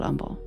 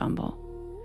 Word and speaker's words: Humble: we had to say umble. It's literally spelled like humble, but the city is called umble. The mayor calls it umble and nobody talks about and everybody's like, "Oh, what?"